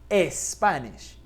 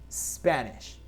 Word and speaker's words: Spanish: No es Spanish, es Spanish. Spanish.